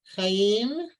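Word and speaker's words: חי: Ha, Chaim, L'chaim, Torah, Torach, No, that would be Torat. Mm-hmm. Chaim, El, Ha, Chai, Chai. right? You're gonna Oh. pronounce the yud there, chai.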